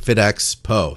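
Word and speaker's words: FitXpo: there's this an event fit expo fit or fit expo i guess fit x po that's how you say it fit x po there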